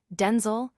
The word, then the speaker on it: Denzel: She began to pronounce her son's name with a slightly altered emphasis, Denel, pronounced with the broader e sound, to differentiate him from his father.